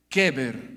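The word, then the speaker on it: קבר: En hebreo, el sepulcro se define como keber. Keber, diga keber. Keber significa sepulcro, tumba o fosa.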